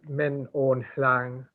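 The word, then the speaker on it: Min Aung Hlaing: person and they said that they thought that min hang that's how you say it that the reason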